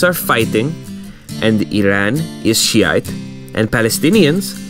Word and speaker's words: Shiite: of Muslims, Sunnis and Shiites, which are fighting each other. Right, Iran is Shiite, which, like a tranny, from looking at it, you can't tell it's pronounced with a she.